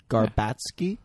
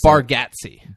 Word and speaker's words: Bargatze: Garbatsky? Yeah. Was that? Did you Did you intentionally mispronounce it or? No, I was like honestly trying to. Bargatze.